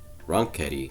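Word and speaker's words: Ronchetti: against uh mark ronketi so i i say wrong kitty because that's how he pronounces so uh for the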